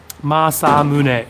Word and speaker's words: Masamune: Masamune is the way to pronounce that.